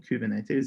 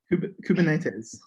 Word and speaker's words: Kubernetes: how to pronounce kubernetes i think you said it was kubernetes kubernetes okay because that's one that